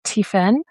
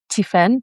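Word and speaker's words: Tiphaine: Yeah, her name is um uh it's pronounced uh T Tiffen. Tiffen, but it's she's uh French. Um I think she's French. Uh yeah, so Tiffen Tiffen. So it's T I P H A I N E Marie.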